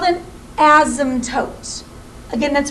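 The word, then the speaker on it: asymptote: and this is the word it's called an ASM toot again that's pronounced ASM toote so the ASM toote right now for this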